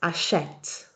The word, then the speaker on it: achète: and elle plural forms, the E has a grave accent and so it's pronounced achète.